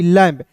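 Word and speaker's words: lamb: में करते हैं तो एल ए एम बी लैंप नहीं समझ में आया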